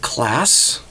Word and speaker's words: Klaas: It's from somebody else from Germany by the name of Klaas. And yes, that's the right pronunciation because he actually provided me with the proper pronunciation.